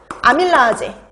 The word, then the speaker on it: 아밀라제: 그러니까 이게 되게 재밌는 게 옛날에는 다 독일식 발음이었거든요. 그 독일식 발음이 아제로 끝나는 거예요. 소화효소 이름이. 그래서 아밀라제 이렇게 발음을 했단 말이죠.